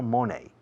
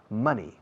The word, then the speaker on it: money: Fijaos que digo money, no money. Money. Rima con gracioso. Funny.